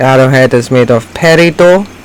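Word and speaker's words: peridot: head is made of perido which is how that word is pronounced sometimes referred to as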